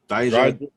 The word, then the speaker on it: Dijak: Dijak.